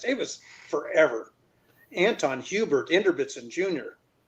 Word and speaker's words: Inderbitzin: But it's Inderbitzin, right?